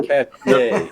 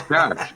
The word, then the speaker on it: cache: Oh, cachet. no, it's cash. The French word is a cache, like a hidden trove.